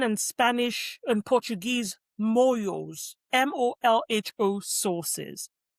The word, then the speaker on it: molho: Spanish and Portuguese molhos, molho sauces. But if you hear the word molho being pronounced, it sounds very much like imoyo. It doesn't read the same, which, again, is really fascinating.